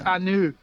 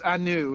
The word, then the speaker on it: Anv: It's It's Anu. It's Anu is how you pronounce it.